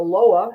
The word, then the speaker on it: Loa: He's a psychic reader, a medium, and serves the ancestors and the Loa. Again, am I pronouncing that correctly?